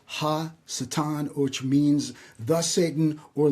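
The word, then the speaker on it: השטן: In Cabala, Satan is re actually pronounced Satan. It's always preceded by the definite article ha. So it's ha satan which means the satan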